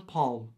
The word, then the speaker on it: palm: Farm, palm. I definitely pronounce them differently. Palm. There's an L there, okay? I like to pronounce my L's.